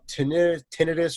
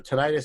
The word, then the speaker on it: tinnitus: i have such bad uh tinnitus or tinnitus however you want to pronounce it we've we've you're like tony you